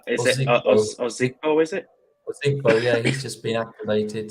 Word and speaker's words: Ozigbo: the show, that I forgot how do you pronounce his name? The running back has just been activated. Is it Ozigbo? Is it? Ozigbo, yeah, he's just been activated.